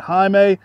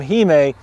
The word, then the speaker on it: hime: Now, it is pronounced hime. You'll see that as a reoccurring term with a lot of the dwarfer Japanese maples that are dwarfier. It's a term you'll see a lot. It should be pronounced hime. Some people will pronounce that hime. Typically, the vowel sounds in the middle of Romaji are a softer sound, so it's just a tip for saying these.